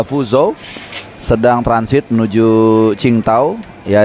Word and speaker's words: Qingdao: fuzo sedang transit menuju cingtau ya ada yang bilang bacanya chingtaw kalau gua ggak salah ya Walaupun sebagian dari kita lidahnya itu bacanya King daw e jadi transitnya lumayan